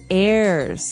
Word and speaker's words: heir: pod, and to his heirs. This is our next word. What is an heir? Now, if you notice, the H is silent there.